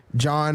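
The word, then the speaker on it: Jean: john lorenzo g right john renzo g so his name is john but it's spelled j e a n lorenzo l o r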